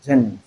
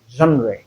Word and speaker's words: genre: As in words like genre, many call this gens. Some say gens of literature and so on. This is genre. So in genre, the first sound we have there in place of GE is J sound, which is the voiced palato-alveolar fricative sound.